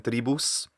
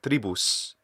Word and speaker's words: tribus: he's not saying um he's not saying three boos he's saying tribus so you're saying that